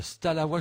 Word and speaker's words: Stalawa: Alors, Stalawa, je le prononce bien, ça se dit comme ça? Oui, oui, c'est ça.